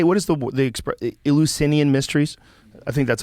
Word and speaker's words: Eleusinian: So, like, how do you say, what is the Eleusinian mysteries? I think that's how you say it. Yes, Eleusis. It's a weird word, though. Eleusinian.